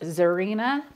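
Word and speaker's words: Xirena: I love selling and it's pronounced Zarina but it starts with the X um and I've sold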